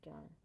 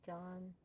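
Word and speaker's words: jawn: So, Physics bro taught me John and holy. And John Doe? Nah, they It's spelled j a w n.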